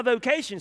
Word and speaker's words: vocatio: But what's my vocation supposed to be? What am I supposed to be doing? What vocation? The word vocation is a Latin word pronounced vocatio.